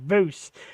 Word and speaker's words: Vose: He's like, it's Tree Vose without the tree. Vose.